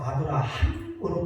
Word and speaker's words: 아브라함: 왜냐하면 여러분들 아브라함으로 발음을 하려면 반드시 히읗자, 다시 말하면 숨소리가 들어가게 됩니다. 아브라함 숨소리가 나가게 됩니다.